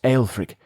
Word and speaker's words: Alfric: It is pronounced alfrick, but you can call me Aphic.